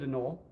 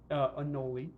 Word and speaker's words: anole: So this is our male bearded anole, anole, more properly pronounced, and he's a delightful fellow.